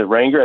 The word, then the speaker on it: Ranger: when you said it is it wranger is how you pronounce it ranger ranger yeah rangers like like the little ford truck ford ranger yes i